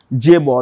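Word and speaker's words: chaebol: written with a c it is pronoun with pronounced with a J okay J Ball now what's a j ball a j ball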